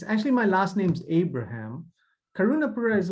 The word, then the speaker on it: Karunapuzha: today first name is last name is karuna uh the zine and the agent that is very misleading it's it's like an R uh and it's actually my last name's Abraham karunapura is like a clan name Christians get clan